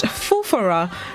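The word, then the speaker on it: foofaraw: day this morning it's spelled f f-o-o-f-a-r-a-w it's pronounced fufura it's a noun which means a great fuss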